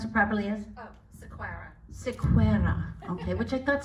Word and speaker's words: Sequeira: originally uh and you your last name to pronounce it properly is Sequeira okay which I thought sounds punished but Portuguese